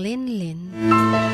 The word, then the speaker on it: Lingling: Chin, itago niyo na lang ako sa pangalang Linlin. Silent G from Lingling.